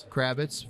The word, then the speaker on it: Kravitz: Kravitz from the East Coast, New York, and from Sennebogen.